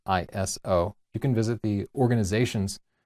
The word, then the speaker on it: ISO: Believe it or not, it is pronounced ISO and not ISO.